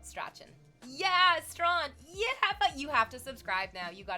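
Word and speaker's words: Strachan: CS is your username pronounced Strawn like the street in Toronto. Did I get it? Are you in love with me now? It's called It's Strawn, right?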